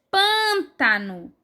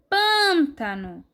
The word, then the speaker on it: pântano: próximo a palavra é pântano pântano mais uma vez a sílaba mais forte está o antepenúltimo lugar a próxima palavra é